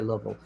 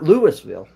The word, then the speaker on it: Louisville: from the south because they say Lille because it's not Lewisville no nois yeah and